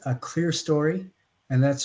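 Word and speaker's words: clerestory: uh row of Windows here is called a clear story and that's spelled c l r s t o r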